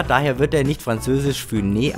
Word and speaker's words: Funès: ich ohne zu überlegen, der Franzose Louis de Funès. Er ist der Sohn spanischer Einwanderer, daher wird er nicht französisch Funès ausgesprochen, sondern spanisch Funès.